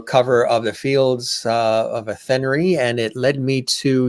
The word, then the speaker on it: Athenry: How do you say do you lose the H? Do you say Athenry? Athenry. Oh, Athenry. There you go. Athenry. Yeah, you see, we've got things messed up here. Yeah, but in a way, you're kind of going at Henry. You're right. Athenry is how we would say it here. There should be another E then after the Y for RYE, like rye bread.